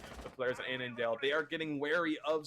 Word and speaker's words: Annandale: to climb as alan as annan excuse me annandale my mistake i'm mispronouncing all their names here are current have